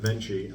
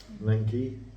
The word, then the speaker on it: Venchi: So this is well, we pronounce it Venchi. I don't know whether it's Venchi in Italian. I'm not really sure.